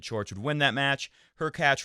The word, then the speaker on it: Hurkacz: Her catch rhymes with latch, will very likely beat Puig, in my opinion.